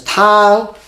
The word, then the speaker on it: 汤: Obviously, this part contribute 右边, 提供声音, contribute to pronunciation with the ng. That's tang.